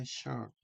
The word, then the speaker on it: shirt: 자, 근데 실제로 때 shirt, shirt, shirt이라고 읽어줘야죠.